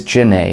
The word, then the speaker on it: Genet: There is Genet, a French playwright, Junet, this guy's Junet.